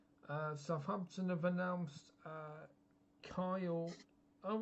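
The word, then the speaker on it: Cyle: Uh Southampton have announced uh Kyle. All right. It's interesting. So I presume it's Kyle, but it's C Y L E. Would you say that's Yeah, still Kyle.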